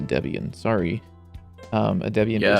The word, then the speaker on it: Debian: they were using a Debbian based. I don't know why I'm calling it Debbian. Like I usually pronounce a Debian.